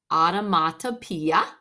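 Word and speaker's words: onomatopoeia: So looking here, it says an automatopoeia, pronounced automatopoeia, is a word that imitates the sound it describes.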